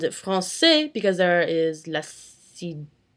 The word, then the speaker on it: français: CD, which is a little squiggly thing, and it creates a softer sounding C. Say that 5 times fast. For example, in the word French, français. You pronounce it français because there is la sidelle.